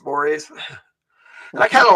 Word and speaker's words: mores: mores it looks like mores but it's actually pronounced mores and I kind of like it uh what